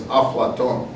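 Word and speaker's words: أفلاطون: we often like plato it's aflaton instead of plato it's aflaton because they have to do the the syllables different when they move it into when they when they move it from greek into arabic semitic languages and then back again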